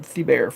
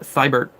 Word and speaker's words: Thibert: I thought it was Art Thibert. So that's how I pronounce it. And then Mike goes Art Thibert. So all right, that's how you pronounce it. It's Art Thibert.